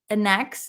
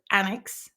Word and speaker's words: annex: those dictionaries and then still I was Pro pronouncing it anex instead of annex right it's the [